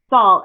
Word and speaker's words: Saul: Yeah, it's pronounced. Okay, and your last name, how do you say it? Saul, S-A-U-L.